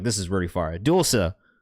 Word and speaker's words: Dulce: It said Dulce right there. At the bottom. Pronounced Dual Say.